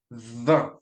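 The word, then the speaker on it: vingt: for 20 in V we don't pronounce the G and the T in the end okay we just say V it's like remember number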